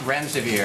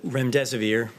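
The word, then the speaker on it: remdesivir: so much I wanted to ask out rent rent severe if I pronounced that correctly can you tell say is it currently approved for use on the virus so REM des aveer and it's a drug made by Gilead that's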